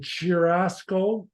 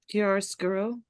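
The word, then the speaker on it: chiaroscuro: art characteristics this is how do you say it K scuro yes thank you I've been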